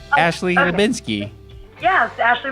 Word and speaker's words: Hlebinsky: You can't pronounce my last name. Oh, no. It's Ashley Hlebinsky. Yes, Ashley Hlebinsky.